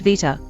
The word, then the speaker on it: beta: In Greek, for example, the letter beta is pronounced vita, but in science, people use beta.